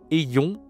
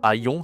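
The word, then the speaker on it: ayons: Ayon. Ayon. Attention, la prononciation c'est pas aon, c'est ici et OK.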